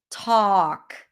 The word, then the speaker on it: talk: Hall, salt, bald, talk, no L here, okay?